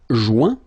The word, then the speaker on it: joint: Joindre, joint, rejoindre, rejoint. Okay, same thing, final T not pronounced. Joint.